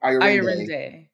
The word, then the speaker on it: Ayorinde: Ayorinde.